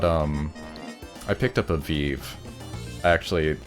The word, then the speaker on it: Vive: vive hmm just uh i think that's how you're supposed to pronounce it and not not five i think five